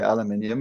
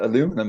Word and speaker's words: aluminium: quizzes with, and I always used to say aluminium, and he would say, why do you pronounce it like that?